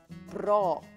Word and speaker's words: braw: They are braw, B-R-A-W, 예쁘다 아니면 잘생긴다. 네. 그래서 그 남자가 잘생겼다고 하고 싶으면 That guy, that boy is braw. 근데 이 발음이 재밌죠? Braw. 그렇게 해야 됩니다.